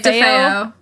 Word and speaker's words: DeFeo: Most of the DeFeo, I don't know how to say this last name. You're saying it right, DeFeo.